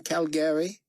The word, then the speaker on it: Calgary: And why is he not still a rodeo cowboy in Calgary? David noticed that Carpathia had pronounced the city with emphasis on the second syllable, just like the locals.